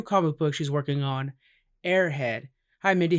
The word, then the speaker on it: Aer Head: need to know that it is spelled eat our head yeah yeah it sounds like the term airhead but I mean it